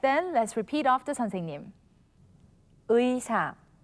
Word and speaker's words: 의사: consonant iung, or when it is the first syllable of a word. All right, then let's repeat after 선생님. 의사, 의사, 의자, 의자.